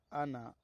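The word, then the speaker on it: أنا: نا۔ لفظ جی حضرت۔ انا، اس میں الف ہے، علامہ نون کے بعد الف ہے، کہیں پڑھا نہیں جاتا، کہیں پڑھا نہیں جائے گا، انا ہی پڑھا جائے گا، بس انا کی طرح پڑھیں گے، جبکہ اس پر وقف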